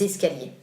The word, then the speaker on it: escaliers: Les escaliers, with S and C, that you hear in the pronunciation. Les escaliers.